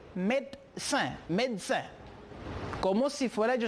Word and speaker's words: médecin: On a maintenant, pour le troisième, médecin. Puede ver médecin con una E. Pueden escuchar médecin o on peut voir médecin. Cuando la persona lo dice, sale como si fuera una T, médecin, médecin.